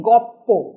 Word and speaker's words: গল্প: যেমন গল্প, এখানে কি আছে, গ যুক্ত অ যুক্ত ল যুক্ত প যুক্ত অ, অর্থাৎ লয়ে পয়ে। এই লয়ে পয়ে আমাদের উচ্চারণ করতে অসুবিধা হয় বলে আমরা তাকে করে নিই গপ্প, অর্থাৎ ল এবং প হয়ে যায় পয়ে পয়ে।